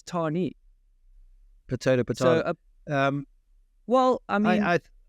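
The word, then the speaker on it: Tahnee: They're doing hardline, Tarnay or Tarni. Why do I think it's? I mean, I don't even say it correctly, and everyone else says Tarni.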